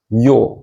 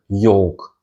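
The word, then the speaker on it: Ё: And the yol is pronounced as yol, like in yolk, the combination of a Y and a O sound, yol.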